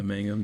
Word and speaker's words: Mangum: And that captain, is it Mangum? Is that how you say his name? Yeah, Mangum, Dave Mangum.